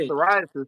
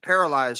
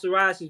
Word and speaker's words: psoriasis: I would have never thought psoriasis was spelled with a P.